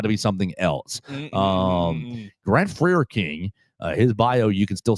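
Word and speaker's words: Frerking: If you type in Grant Freer King, I think is how we're going to say his name. F-R-E-R King, Freer King.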